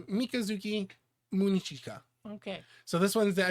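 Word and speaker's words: Mikazuki Munechika: I think it is Mikazuki Munachika. Close. Yeah. I think you just overpronounced it a little bit. So Mikazuki Munichika.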